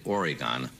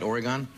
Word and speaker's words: Oregon: How were you ever lucky enough to find someone from the state of Oregon? Did I pronounce it right, Oregon? No. Oregon.